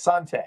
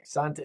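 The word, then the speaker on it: Santé: that the right pronunciation you're pretty darn close Sante Sante there should be an accent on it but fun fact I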